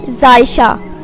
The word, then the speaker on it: Zaisha: नाम है जायशा। जायशा नाम के इंग्लिश में स्पेलिंग है ZAISHA और इसके मायने हैं प्यारी और खूबसूरत।